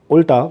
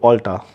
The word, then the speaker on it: Ulta: store which is Ula any fanatically correct person will pronounce is that Ulta because it is U LTA but this is called Ulta now as a fanatically